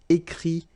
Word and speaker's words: écrit: Dire, to say, IRE will become IT, okay, remember, you put this T, you don't pronounce it, écrit, dit.